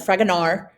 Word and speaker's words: Fragonard: and it's by fragonard the d is silent fragonard um so um and